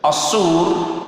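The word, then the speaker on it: الصور: Ini juga asur pakai sod. Kalau ditiuplah, kalau sodnya kita salah, maka apa? Kalau jadi sin, maka sangkakala ditiup. Aslinya gitu.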